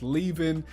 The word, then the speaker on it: Leavin: I believe that's how you say your name, mate. I remember he left a comment saying it's actually pronounced Leavin.